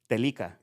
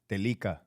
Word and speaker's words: Telica: Telica. Telica.